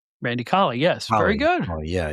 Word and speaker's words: Randy Colley: Original Smash was Randy Cooley. Randy Colley, yes. Very good. Oh, yeah, Randy Cooley. Not Mel Cooley, no. I mispronounced his name, but he was Moondog Rex.